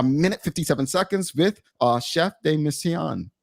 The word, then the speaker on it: chef de mission: 57 seconds with uh chef de missan I said it right Chef you're good okay I'm not saying it